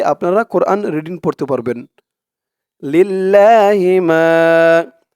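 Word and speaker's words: لِلَّهِ مَا: কোরআন reading পড়তে পারবেন লিল্লাহিমা লাম দিয়ে এই তাসদিদ ওয়ালা লাম ধরবে লাম লাম জের লিল লাম খাড়া জবর লা লিল্লাহ হি লিল্লাহি লা এক আলিফ টান খাড়া জবর লিল্লাহি মা এক আলিফ টান জবরের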